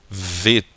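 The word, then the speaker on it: ב: nós tiramos o dagueche, ela assume um novo som, um som mais fricativo, que é o som de V, como em vovô, tá? Então aqui ela deixa de se chamar bet para se chamar vet, ok?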